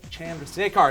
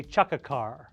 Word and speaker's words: Chandrasekhar: and I'm here with Jay Chand J car did I say it right you did yes first question then can you what are the top three uh ways that people mispronounce your name j Chaka car I had a nickname in college J Chaka sucker you know I've heard